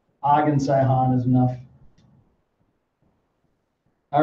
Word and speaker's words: Sihon: Og and Sidon. Yeah, that's Sihon. Did you say? Oh, it's spelled S-I-D-O-N. Is it S-I-H-O-N? Yep. Yeah, H. Sihon.